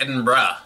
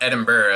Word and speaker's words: Edinburgh: so that was central Edinburgh pronounced Edinburgh not Edinburgh as I've been wrongfully saying for years on